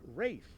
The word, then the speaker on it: Ralph: Concerning the pronunciation of his name, this star of the English Patient said, "It's Rafe, actually."